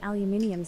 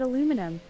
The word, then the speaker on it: aluminium: Esions have the really bad habit of removing letters from words like aluminium spells and said aluminum for example.